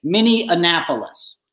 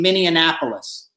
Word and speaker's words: Minneapolis: he's in minnesota tonight he'll say mini annapolis right because he can't read minneapolis it's too much for